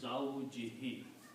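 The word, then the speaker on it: زَوْجِهِ: And for the tajweed pronunciation, we will also pronounce this as a he, so it becomes zawjihi, his wife.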